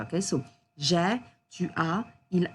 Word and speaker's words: j'ai: A lot of students pronounce j'ai as je, and we can't hear the past tense here, okay? So, j'ai, tu as, il a, elle a, on a for the singular forms.